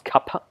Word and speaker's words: kapha: know about ayurveda it's to do with kappa often called kapha but as you pronounce kappa we then have rajas